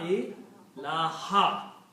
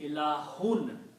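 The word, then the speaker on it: إِلَٰهَ: So we are not pronouncing ilahun. We are pronouncing this as a ha, fatah, ilaha, right? So when la comes before a noun, it changes two dhammas into a fatah.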